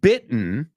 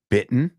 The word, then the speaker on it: bitten: eaten beaten right and bitten rhymes with kitten bitten kitten no kitten ISO